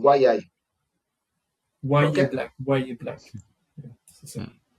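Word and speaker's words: Yahya: Apparemment, c'est pas Yaya, c'est Mhm. Wayai.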